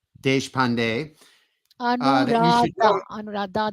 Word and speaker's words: Deshpande: I am Anuradha Deshpande. You say it so much better Anuradha than Deshpande. I do. Much better. Yeah, So I'm so used to it. Yeah. a little bit about Anuradha Deshpande that you should know.